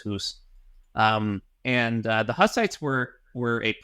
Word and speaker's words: Hus: called Hussites, even though I'm pretty sure his last name is pronounced Hus.